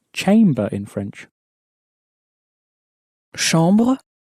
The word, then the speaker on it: chambre: Chambre, You'll notice also that the ch is pronounced sh in French, as you may have already said.